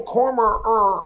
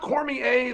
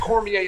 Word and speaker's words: Cormier: and he's like Daniel cormer and it's like it's pronounced Cormier there's just no a in it just like just say the word just say just say Cormier at some point please